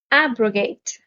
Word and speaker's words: abrogate: antonyms are lengthen append abrogate abrogate stresses on the first syllable and abrogate means to